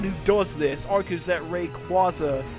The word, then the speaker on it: Rayquaza: pronunciation sounds really stupid even though it makes sense since it's a combination of Ray and quazar as such people who